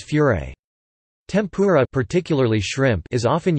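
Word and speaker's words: フライ: It would become something else called fry or pronounced in Japanese as furé.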